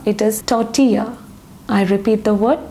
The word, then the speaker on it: tortilla: How do you pronounce this word? It's not tortilla, it is tortilla. I repeat the word tortilla.